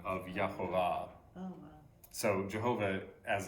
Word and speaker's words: Jehovah: They took the letters from Adonai and put them in the spaces. And so instead of just going, they said Yahovah. So Yahovah is one pronunciation, but